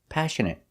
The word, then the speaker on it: passionate: example is passionate passionate stress is on a first syllable passionate and the next two syllables are pronounced the same uh passionate passionate means